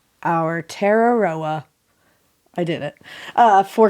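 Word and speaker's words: Aotearoa: think we've had to say that before have our teroa our teroa our teroa I did it uh for clarity thank you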